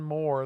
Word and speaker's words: Mor: It is pronounced Moore.